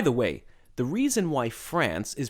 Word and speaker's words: France: the modern states of France and Germany, respectively.